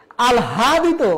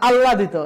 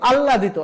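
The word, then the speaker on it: আহ্লাদিত: অনুশীলন করো তাহলে হবে আল হাদিত আমরা কি বলি আলহাদিত না আল্লাদিত এই যে আল্লাহ দিত তোমরা একটু পরেরটা দেখো আলা আল এল এইচ এ লা দিত আল্লাদিত আল্লাদিত আর আমরা উচ্চারণ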